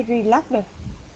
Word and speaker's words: relaxed: I relaxed at the weekend. Again. T sound. Yes. I Relax. Said relax. Here. Relaxed. Okay, so it's relaxed. So that is how it should be pronounced.